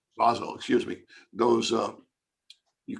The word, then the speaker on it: Basel: you're not part of the bazel convention though those actually pronounce basel excuse me those uh